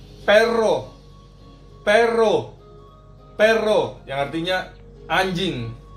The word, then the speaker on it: perro: Sedangkan 2 R itu R-nya lebih bergetar lagi. R. Contohnya perro.